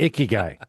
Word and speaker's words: ikigai: We are ICKY. GUI. Like the icky guy.